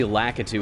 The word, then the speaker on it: Lakitu: I was one of those guys that have always said Lakitu instead of Lakitu, and it's come to my attention recently that apparently Lakitu is actually right.